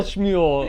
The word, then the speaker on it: Shmuel: we're this is all shmuel uh episode of the actress i love how his name is also has the the jewish pronunciation rather than samuel which would be like the english-sized version of it okay we're going with